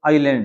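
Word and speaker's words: island: अभी कचल is black आइलैंड यह जो इसका उच्चारण है इसमें क्या भी जलैंड नहीं है आईलैंड है यहां पर देखो अभी के चल है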